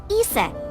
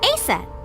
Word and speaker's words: Isis: Horus's mom is named Isis. But in ancient Egyptian, it's pronounced closer to Iset or Aset.